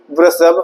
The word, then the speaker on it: वृषभ: इसे वृषभ, इसको कहेंगे शुद्ध प्रोनाउंसिएशन।